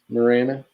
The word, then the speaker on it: Marana: Marana.